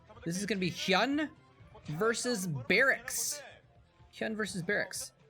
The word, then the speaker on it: HyuN: hyun um which uh his name is actually hyun uh not human i think i probably pronounced it hewn in the past but now that i know how to pronounce korean i can look at his korean name and it is actually so there you go his